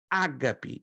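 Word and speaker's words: ἀγάπη: vendo uhum a transliteração eu coloco a sílaba tônica na primeira a g p e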